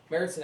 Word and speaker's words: Märzen: I did it to see if you guys were paying attention, because I know it's pronounced Märzen. Märzen actually means March, so